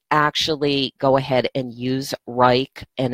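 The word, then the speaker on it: Wrike: now I didn't actually go ahead and use rike and it's spelled w R I K E it's a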